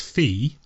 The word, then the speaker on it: Fe: where I say Hindi the first ones fee Fe not Fe is in Fire Emblem we're talking that I think it's Fe is in literally pronounced fee yeah and you basically